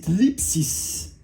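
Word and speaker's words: θλῖψις: C'est, je vais essayer de bien le prononcer, c'est thlipsis.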